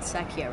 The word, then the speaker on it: Secchia: it this is the Secchia open your love it's called Secchia right is that how it's pronounced yeah just checking and then